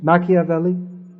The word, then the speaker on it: Machiavelli: ploy because as machiavelli is that the right pronunciation machiavelli yeah as he pointed he pointed out